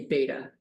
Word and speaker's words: beta: Alpha, beta. Most people see it and say beta. That's the American pronunciation of it, beta.